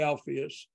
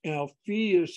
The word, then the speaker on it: Alpheus: George Miller alpheus Cutler I pronounce that name wrong for yours I would say alpheus and I was told no mail sound normal it's alpheus Cutler and others the established